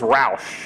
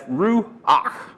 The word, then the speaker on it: ruach: I used to think it was Roush. That's the way I used to pronounce it. But I did a little study and found out it's ruach. Anyway, it's got that guttural sound.